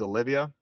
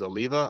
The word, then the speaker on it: Oliva: an Oliva cigar um a lot of people pronounce these Olivia but the correct way to say it is Oliva I learned that because I pronounced it Olivia one time in a